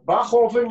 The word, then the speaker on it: Bachofen: here because it's uh not so easy to pronounce so it's uh bachoven is my last name but yeah i know